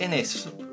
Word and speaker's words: Innes: His name's Innes, but I think it's spelled with two N's, so you pronounce it Innes.